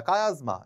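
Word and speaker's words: chiasma: মানে আমাকে আর বেশি পরিশ্রমই করতে হয় না কায়াজমা এইতো কায়াজমা আচ্ছা কাজমা বানানটা একটু ভুল হয়েছে সি এইচ আই এস এস এম ঠিক আছে তো হিমোফিলিয়ার অংক করবো আমরা।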